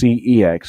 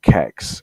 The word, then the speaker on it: CeX: I know it's pronounced CEX, or one of my friends calls it Kex, as in hex, but that's got an H in it, so you can't say that.